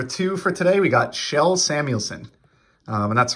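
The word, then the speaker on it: Kjell: for today we got shell samuelson and that's right for those of you who weren't hockey fans back in the day it is not pronounced cagel it's a shell it's a swedish name um he actually began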